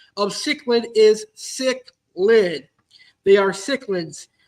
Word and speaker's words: cichlid: pronunciation of cichlid is cichlid. They are cichlids, not chiclets or chicklets or anything like that. It is cichlid. Cichlid. So think of the word sick and lid, and you'll be able to pronounce the word cichlid.